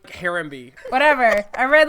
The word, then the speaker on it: Harambe: the the monkey gorilla oh harambe oh my God yeah I said ombre I was like who's ombre guys I'm sick I